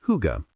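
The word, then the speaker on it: hygge: In Denmark, there is a concept known as higay, pronounced huga.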